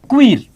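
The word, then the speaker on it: queer: दोस्तों, यहां एक बड़ा इंपॉर्टेंट शब्द आता है जिसके बारे में मैं चर्चा करना चाहूंगा, और वो शब्द है क्वीर, या इसे क्वेर भी प्रोनाउंस करते हैं।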